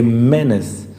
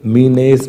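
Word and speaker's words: menace: एक एनिमी है, ए मेनेस, इसको क्या बोलते हैं, इसकी प्रोनाउंसिएशन क्या होती है, इस वर्ड की प्रोनाउंसिएशन बहुत बार बताता हूँ मैं क्लास में, ये मीनेस नहीं है, क्या है ये, मेनेस, और मेनेस का मतलब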